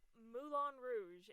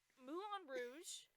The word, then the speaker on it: Moulin Rouge: Today's subject is Moulin Rouge. Yes, I know that's not how you pronounce it in French, but I don't care. That's how they pronounce it in the movie. It's actually Moulin Rouge.